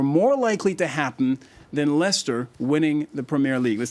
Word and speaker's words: Leicester: have to figure out how to pronounce Lester so oh yeah everyone looking at the name will every American will say the Leister submit I think maybe